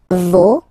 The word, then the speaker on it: vos: Okay, so remember, even if you get this final S, you don't pronounce it, as it was the case already for this word, no, you don't pronounce the final S, vos, you don't pronounce it, leur.